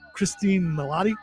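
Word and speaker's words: Cristin Milioti: And uh it's got Christine Melotti.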